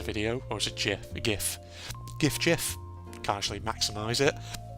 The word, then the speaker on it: GIF: But I was just saying you said GIF right the first time. Yeah. Because the creator of it actually wanted it pronounced as GIF.